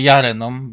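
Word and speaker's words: Llarena: Lareną, a w zasadzie Jareną, bo tak Jareną, powinno tak, się. bo tutaj Jareną, tak. popełniamy ten błąd już od dłuższego czasu. Te hiszpańskie podwójne L to jest J.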